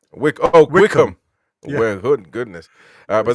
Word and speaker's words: Wycombe: How do you say it? Wickham or what? Wickham.